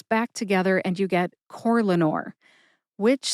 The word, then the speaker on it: Corlanor: However, when I say Corlanor, I tend to emphasize that first syllable, core. See if you can hear any emphasis at all when I say it again. Corlanor. Corlanor.